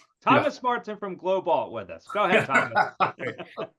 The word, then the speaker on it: GLOBALT: It's just because I can pronounce the word alt. Alt. Like halt. Thomas Martin from GLOBALT with us.